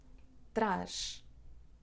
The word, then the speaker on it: traz: "traz"- "brings" the pronunciation is with / ʃ /, / traʃ /.